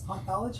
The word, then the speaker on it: Hanthology: Hanthology.